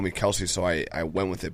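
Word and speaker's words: Kelce: Kelsey's Kelse brothers.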